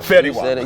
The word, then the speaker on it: Fetty Wap: What was it like performing for the Canadian audience and performing with Fetty Wap? Oh man. Did I say it right? Fetty Wap. Fetty Wap.